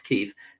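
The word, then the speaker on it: Kyiv: of kiev kiev which the pronunciation was called kiev then now it's keef which of course were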